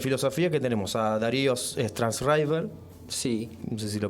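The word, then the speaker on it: Sztajnszrajber: Hoy tenemos en filosofía que tenemos a Darío Strasriver. Sí. No sé si lo pronuncié bien. Sí, Strasriver.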